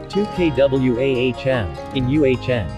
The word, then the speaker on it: Tahquamenon: the midwest's largest set of waterfalls it is pronounced 2k wahm in uhn aside from pronunciation here are seven things you